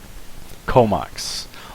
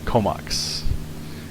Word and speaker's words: Comox: Comox. Long O. The first O is long. The second O is short. Comox.